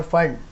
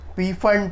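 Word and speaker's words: Pfund: Remember इसको पी फंड पढ़ते हैं बहुत लोग, पर वो गलत है, इसका एक्चुअल प्रोनाउंसिएशन फंड सीरीज ही है।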